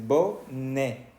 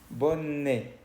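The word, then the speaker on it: bonnet: encontramos la ete ok Al final de la palabra boné se escribe con et pero no se pronuncia e escucha Cómo se dice bone bone por qué porque esta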